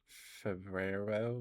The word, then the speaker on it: Febrero: In your language, it's Febrero. We pronounce the R's.